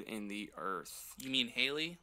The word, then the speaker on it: Halley: You mean Haley? Like Haley's Comet? Correct. Haley, It's H- pronounced Haley, but yes. If you're British, Well, they call I'm- it Hallie as well.